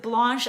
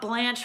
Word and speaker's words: Blanche: the name blanche and because i pronounced it blanche and not blanche from the golden girls this person was